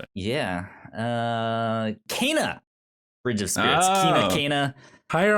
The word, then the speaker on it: Kena: Kena. All right, Kane pronounced it.